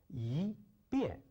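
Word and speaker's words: 一边: But when it goes in front of a fourth tone, you have to pronounce it with a second tone, like yi, bian.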